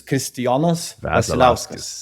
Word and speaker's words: Kristijonas Vasiliauskas: How do you pronounce the proper pronunciation of Yeah. So it's Kristijonas Vasiliauskas.